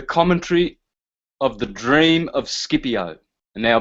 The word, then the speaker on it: Scipio: of the dream of Scipio and now being Italian I'll pronounce that shipya because that's the correct pronunciation but there it is